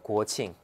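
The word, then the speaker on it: 国庆: 고칭.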